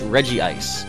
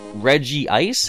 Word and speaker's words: Regice: but they say that Reggie ice has only one I so it should be regice now to me it